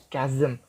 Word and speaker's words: chasm: very deep steep gap in earth's surface the pronunciation is chasm deep and vast and wide you know one